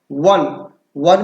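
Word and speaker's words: one: है इसे देखिए आप प्रोनाउंसिएशन में वन में वाह शब्द की साउंड जो आ रही है वो का से ज्ञा तक के शब्दों के बीच की है।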